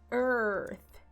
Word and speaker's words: earth: Agora, the earth, a terra. Earth quer dizer terra. Acaba com TH, então olha a pronúncia aí, ó. Earth, earth.